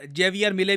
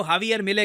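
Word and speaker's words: Javier Milei: इनको इंडिया में हम लोग काफी बार जेवियर मिले भी कह देते हैं। वैसे जो करेक्ट प्रोनाउंसिएशन है इनकी अर्जेंटीना में, उनके मीडिया में इनको हवियर मिले कहते हैं।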